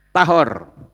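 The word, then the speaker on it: טהור: yang bawah tame s itu membacanya tahor sementara yang bawah membacanya itu jika diterjemahkan dalam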